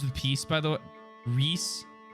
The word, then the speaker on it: Rhys: Peace by the way Rhys rhymes with peace Rhys okay okay because